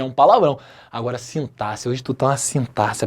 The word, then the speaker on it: sintaxe: Tem aluno que chega assim, professor, eu tô com uma dúvida em sintaxe. Errado. Tem outros que falam assim, professor, eu tô com dúvida em sintaxe. Igualmente errado. Se pronuncia sintaxe, ok?